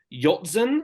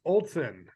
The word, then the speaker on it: Olson: these names eventually uh Troy yopson I believe I pronounced that right yes it's Olson Olson yeah okay awesome well